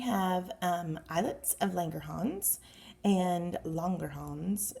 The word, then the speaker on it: Langerhans: islets of langerhans and longer homes is how they pronounce in the book and they see they